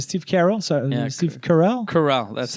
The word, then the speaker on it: Carell: Carell, that's how you say his name, yeah.